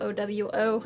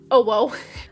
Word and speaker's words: owo: related videos ginger ninja owo i heard it's pronounced that and not oh whoa uh yeah there's a